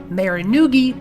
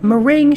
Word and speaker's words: meringue: Fun fact, when I was younger, I pronounced meringue, Marinugi, because of how unphonetic this word is spelled. I studied literacy instruction when I was at college, I should know. In case you were wondering, meringue should be pronounced meringue.